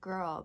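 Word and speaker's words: GRWL: I think the other one is called Girl, but it's spelled G-R-W-L.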